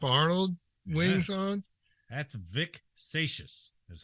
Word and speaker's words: Seixas: That's Vic Seixas, is how you say his last name.